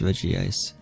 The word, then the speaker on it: Regice: way smokey is 16 almost higher than this Reggie ice rich yeah average ice have your own pronounce it both are correct but we have